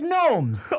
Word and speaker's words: gnomes: Real G's move in silence like gnomes.